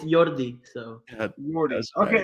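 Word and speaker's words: Yordy: You pronounce it 6 Flags. No, it's Kind of you, funny. you had it. It's Jordi.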